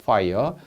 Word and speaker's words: fire: 입술 아랫입술을 무는 발음이죠. fire.